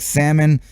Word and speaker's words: salmon: You don't pronounce the L. Is it like salmon? You don't say the L?